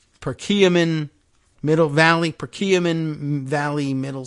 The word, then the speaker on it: Perkiomen: etc and uh oh here's the pronunciation per kiamin Perkiomen Middle Valley procurement Valley